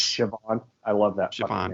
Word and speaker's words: Siobhan: Like it looks like it's spelled like Sibohan. Yes. Or something like that. Yes. It's Siobhan.